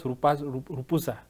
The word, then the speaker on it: Rupusa: and joining me in studio is philosopher rupasa am I pronouncing it correctly yeah welcome to the evening